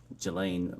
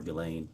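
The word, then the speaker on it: Ghislaine: it's been public reported that in 2024 uh Gelain Maxwell or Gileain I think is how it's pronounced arranged and wired $1 million to publicist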